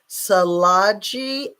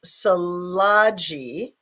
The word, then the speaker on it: Tsalagi: I think that it's Salaji, that the T is silent, just like in tsunami.